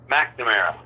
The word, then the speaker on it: McNamara: Thursday, you'll be my fourth guest because I'll be talking to William McNamara. McNamara. Oh, is that how you pronounce it?